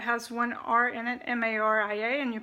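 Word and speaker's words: María: say Maria that has one are in it ma RI a and you pronounce it Maria Maria so see how that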